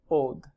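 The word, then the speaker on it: עוד: Below that is the word translated again, still, another, or more, and that is pronounced od.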